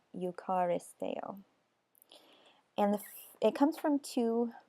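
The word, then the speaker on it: εὐχαριστέω: I don't know if I'm pronouncing that correct, but it's Strong's number 2168, and it's pronounced something like eucharisteo.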